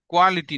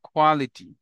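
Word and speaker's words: quality: For example, question, question, কোয়ালিটি, quickly, queen, কোয়ান্টিটি, কোয়ান্টিটি না ক না খ, কোয়ান্টিটি, কুইকলি না খ, কুইকলি, কোয়ালিটি না খ, কোয়ালিটি, কোশ্চেন না খ, কোশ্চেন।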